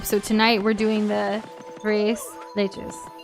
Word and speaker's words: tres leches: Tres Tres leches. leches. Tres leches. Tres leches. Not tres leches. It's like the 3 milk cake. Not trees la trees.